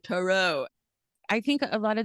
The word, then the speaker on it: tarot: And I was like, it doesn't rhyme with carrots.